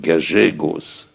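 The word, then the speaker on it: Gallegos: argentin qui s'appelait Rio on dit galgos il y a deux ailes mais il prononce j Rio gagegos et c'est un un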